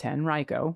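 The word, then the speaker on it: Henrico: wanted to say that henrio county is pronounced henrio which we learned yesterday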